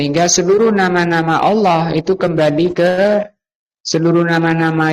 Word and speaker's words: الله: Allahu ng Allahu terus karena bacanya allahu dipertebal menjadi Allahu. Nah, orang Kristen bacanya enggak tebal. Allah yang benar itu tebal. Kenapa ditebalkan?